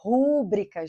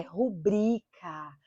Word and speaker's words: rubrica: ser acentuada é acentuada Essa palavra não é então não se trata de uma proparoxítona não é rubrica gente é rubrica rubrica Então se uma